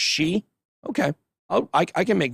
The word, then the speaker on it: Xi: poisoned so they say china's president's last name is pronounced she okay oh i can